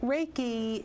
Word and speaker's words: Reiki: trying to accomplish well raiki is is a Japanese word with two syllables the first syllable Ray REI means Universal energy